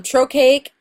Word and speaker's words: trochaic: no poetic quality i'm trochaic is the opposite of iambic trochaic is when stress is on the first syllable of a foot I am BIC is